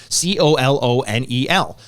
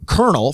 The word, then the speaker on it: colonel: And I got every word, and then she showed me COLONEL, and I knew that Colonel from the Metal Gear games was spelled COLONEL, but I didn't want to embarrass myself by